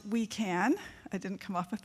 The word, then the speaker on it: WUICAN: We are supporting the communications needs of what is now called the Wildland Urban Interface Climate Action Network, which is pronounced We Can.